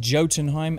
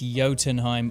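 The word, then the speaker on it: Jotunheim: heat vision though and I also pronounced it johtenheim and it's yotenheim of course thank you for pointing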